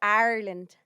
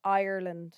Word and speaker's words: Ireland: I'm sure you're a lovely guy, but it's pronounced Ireland. Would say correctly. Yeah, it's with an I, not an A.